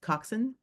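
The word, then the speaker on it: coxswain: that oh the Cox coxen coxen that's yeah it's spelled Cox Wayne coxen oh okay so like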